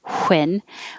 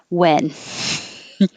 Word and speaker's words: when: enough west west and even though the words might be spelled with a wh like number 32 we don't pronounce the h and we don't use extra air like when we just say win